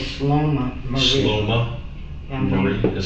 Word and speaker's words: Slomar: No, it's Sloma Marie. Sloma Yeah, Marie? Is there a dash? It's a R behind that though. So It's MAR, but it's pronounced Sloma.